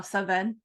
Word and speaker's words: Samhain: But if I'm ever spelling it, in my head I say Sam Haine. That's fair. Just so I know how to spell it correctly. But yes, and it's also pronounced differently in other like I saw Saven as a pronunciation.